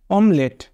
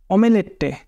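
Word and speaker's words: omelette: এল ই টি টি অমেলেটে উচ্চারণ করলে এরকমই হয় কিন্তু একচুয়ালি উচ্চারণ কি হবে অমলেট সিলেক্ট দা কারেক্টলি স্পেলড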